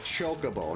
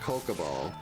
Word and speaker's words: Chocobo: Or it was like Chocobo, not Kokobo.